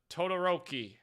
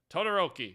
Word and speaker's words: Todoroki: in the Stream uh Todoroki Todoroki we're going with that apparently I said it right from my hero Academia